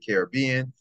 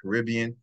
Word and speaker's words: Caribbean: Because some people pronounce it Caribbean, some people pronounce it Caribbean.